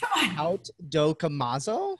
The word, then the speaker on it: Haute Dokimazo: So hot, but the fashionably elegant or high class hot, but it is truly pronounced haute, but because we're super American, we call it hot.